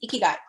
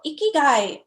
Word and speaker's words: ikigai: than half okay so ikigai and it's pronounced e key guy so i kind of